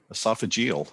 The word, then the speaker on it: esophageal: how do you say that word doctor esophagal esophageal okay he's a specialist in gastroesophageal reflux disease